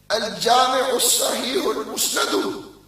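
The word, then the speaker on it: الجامع الصحيح المسند: He said Sahih Hadith Al-Jami' Al-Musnad. No. Al-Jami' Al-Sahih Al-Musnad min Hadith Rasulullah sallallahu alayhi wa sallam wa sunanihi wa ayyamihi. That's how you say the name, my brother.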